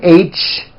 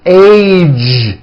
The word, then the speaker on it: age: suggestion very good now the American Jay sound at the ends of words be sure to keep the voicing going throughout the whole word age it's not H its age with a voice of ending college postage stage pledge